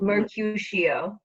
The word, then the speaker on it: Mercutio: how you say it again miss to do Mercutio Mercutio yeah so yeah Mike you sure was